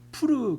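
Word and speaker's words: Pur: 우리가 부루의 이름을 따라이 두를 부림이라 하고 그러니까이 부림이라는 말은 부르에서 왔다는 겁니다.이 부르는 한글로 음력한 것이고 원래 히브리어의 발음은 푸르 그럽니다.이 프르에서 어이 푸림이 온게 오게 된 것이죠.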